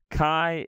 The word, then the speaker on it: Chi: like a F sound Chi is like a CH but a little bit of a guttural like a creased us